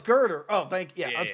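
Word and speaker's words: Gurdurr: yeah oh girder that's his name oh it's girder oh thank you yeah that's gonna say it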